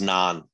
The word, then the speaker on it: naan: a nan disclosure agreement it's pronounced non n-a-a-n an pretty sure it's